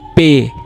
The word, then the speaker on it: P: It is K is Ka, L is L, M is M, N is N, O is O, P is not P, it is Pay, Pay.